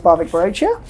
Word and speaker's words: Bhavik Barochia: introduction is not enough your names are you pronounce it and and everything absolutely so hi everyone my name is barbic brochure I am a consultant at the global consultancy